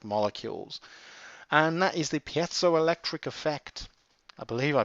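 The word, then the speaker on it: piezoelectric: and that is the pzo electric effect. I believe I pronounced that right. I hear pole electric or pu electric or whatever uh pzo electric I believe it is.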